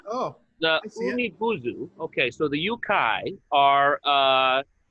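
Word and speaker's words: Umibōzu: So the one I wanted to talk about that relates to Thalassophobia is called the Umibozu, or I should say the Umibuzu. That's how you pronounce it.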